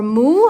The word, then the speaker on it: Moo: and they are by the company Mo, or Moo, I guess you pronounce it Moo in English, M-O-O.